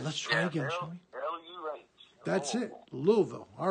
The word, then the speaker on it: Louisville: is that's real good because that's how it's pronounced all right let's that's it Louisville all right hi this is Leo's coast-to-coast you're